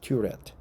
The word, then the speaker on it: turret: ures ures right ures uh turet uh correct pronunciation is turet small Tower turret turet a small Tower open